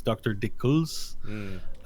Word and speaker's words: Dickles: I'm to sorry, call I am French. Sometimes I do not pronounce the S in English. You guys say the S, so it's Dr. Dickles.